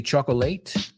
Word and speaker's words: chocolate: from Charlie and the Chocolate Factory. Do we say chocolate? No. We say chocolate. Chocolate, two syllables.